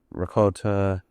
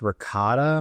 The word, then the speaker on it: ricotta: pesto, uh caramelized onions, ricott, correct? Yeah, I believe it's pronounced ricotta.